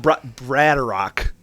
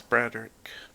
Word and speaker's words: Broderick: Brad Rock braider Rock I assume it's a English name so it's Broderick yeah that's what I've been assuming okay you got this I'd say so 18 plus 6 is 24.